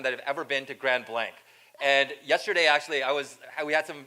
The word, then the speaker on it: Grand Blanc: faces thinking no it's Grand Blanc right you can you can use the English pronunciation for that but as I mentioned